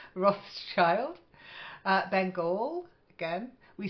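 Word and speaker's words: Rothschild: at the V again Roth's child it's a famous name and if you like wine yeah you might want to pronounce it when you go for a bottle of it Roth's child uh Bengal again we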